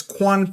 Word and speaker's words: QAN: the platform is called quan platform even though it's spelled qan it's quan platform all right it is